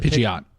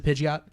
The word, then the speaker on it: Pidgeot: Pidgey, but it's a Pidgeot. Mine's a Pidgeot. I've heard it pronounced Pidgeot.